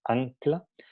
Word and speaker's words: ancla: Si pronunciamos ancla, entonces vamos a notar que a la hora de pronunciar N, el punto de articulación está en la parte velar, muy adentro.